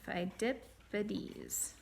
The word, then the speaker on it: Phidippides: Phidippides. Phidippides. Look at how you spell that. PH is saying F, and then EI says I.